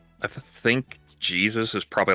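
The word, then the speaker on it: Jesús: it just it it's Jesus but it's pronounced in the Spanish is Jesus. And when you don't know how it's spelled you just think oh their name is hey Zeus.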